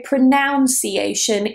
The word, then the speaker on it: pronunciation: Now, a lot of people say pronunciation, even natives.